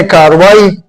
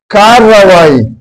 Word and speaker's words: کارروائی: لکھا ہے کہ کارروائی، اس میں یہ ری جو ہے اس کی تکرار ہے، یعنی اس کو 2 مرتبہ یہ بولنے میں، تلفظ میں یہ آتا ہے۔ تو اہل زبان اور